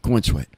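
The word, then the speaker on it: Corenswet: theater oh David Corweat c O R E N S W T so I guess that's cornswe oh yeah yeah cornsweet oh something in corn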